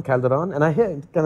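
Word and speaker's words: Calderone: Tell me about this alter ego, Joe Calderon? Yeah, Calderon. Calderon? Yes. And O-N-E, like one, Calderon?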